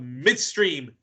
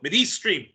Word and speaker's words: Middle East Stream: uh Professor host of Midstream no Middle East stream Middle East stream Middle East stream on press tv you would think me who actually watches who actually watches your program would know how to pronounce it but trust me I have the same problem with the with the gentleman in the controller room they always say it wrong and I have to correct it before we start but